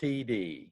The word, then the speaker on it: Tiede: yeah yeah TD the last name is pronounced TD TT like the two initials T on Shirdi